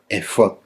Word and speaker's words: efod: fonética hebrea original, porque así es como se pronuncia, efod.